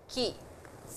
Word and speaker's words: 木: The pronunciation is ki.